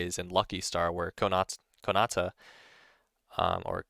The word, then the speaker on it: Konata: One example of a lolly character using master in a cool way is in Lucky Star, where Konata, or Konata, I think it's pronounced, who in a specific scene is working